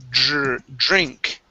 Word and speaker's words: drink: let's go to okay the word drink now when you pronounce this dr pruthmesh uh you want to pronounce a j r sound okay so instead of drink it's drink drink yes good okay so